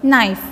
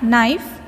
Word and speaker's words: knife: this word next one knife knife K is not sounding in this word so K is a silent letter in this word knife next one neck neck